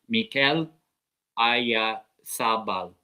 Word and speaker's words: Mikel Oyarzabal: I know it's a difficult name for like the English people, like Charlie and Josh to pronounce. It's Mikel Oyarzabal.